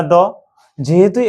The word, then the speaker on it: the: দি না দ? যেহেতু এটা কি আছে, কনসোনেন্ট দিয়ে শুরু আছে, এই জন্য এর উচ্চারণ কি হবে? তাহলে দ।